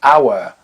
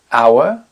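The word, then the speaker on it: hour: le mot par exemple our our le le H est absolument muet le mot Honor hon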